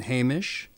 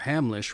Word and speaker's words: Hamlisch: a heretic we have Marvin Hamish or Hamlisch rather it was a songwriter